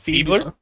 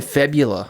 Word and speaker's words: fibula: No, I think it's called febler. Feebler. Oh, do you mean fibula? Yeah, that that. Yeah, I mispronounces fibula sometimes.